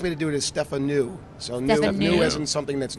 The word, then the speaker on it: Stefanou: you ask differently okay because I always say Stefano so I'm glad the easiest way to do it is Stefan ooh so new isn't something that's new as opposed